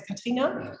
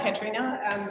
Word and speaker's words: Katrina: So my name is Katrina. Yeah. Or Katrina, if you pronounce it in English.